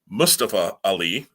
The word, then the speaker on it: Mustafa Ali: what you and I had talked about, having Mustafa Ali, as we've been informed now is the correct way to pronounce his name.